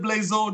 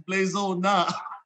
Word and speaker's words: Blazona: You said it wrong. You got it right. You said Blazona. No, it's Blazona.